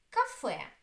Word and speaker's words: кафе: Кафе. Кафе. The second syllable is stressed.